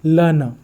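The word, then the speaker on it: learner: यहाँ पर देखना आर के बाद एन है मतलब कॉन्सोनेंट है, इसका मतलब आर का साउंड नहीं आएगा, डायरेक्टली एन का साउंड आएगा और ये आर पर खत्म भी हो रहा है।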